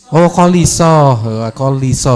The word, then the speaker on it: Koliso: Koliso berarti ya bacanya, bukan Kalisa ya. Koliso ya.